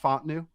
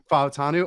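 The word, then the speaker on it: Fautanu: with I'm gonna go with it correct my pronunciation on him is not Fu it's godam fanu fanu oh my God all right so wow that's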